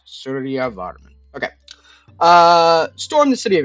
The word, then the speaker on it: Suryavarman: Suryavarman. So pronounce it as like two different words. Suryavarman.